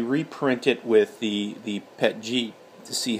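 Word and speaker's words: PETG: so I also have pet G so I mean that's how you pronounce it pet G petting anyways I am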